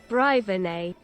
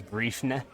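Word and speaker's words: Bréifne: I'm just gonna say Brivene because that feels more natural than Brivene. Huh. Well, yeah, I guess that is a lot better than pronouncing it as Briefne.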